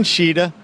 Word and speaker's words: Tschida: All right, so Christian Tschida, that's how you pronounce it, right?